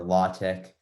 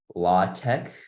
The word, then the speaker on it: LaTeX: think it might be law tech um that's my yes but i think i pronounced it latex because it's the other way you pronounce it latex and i think many people would agree but but yeah saaho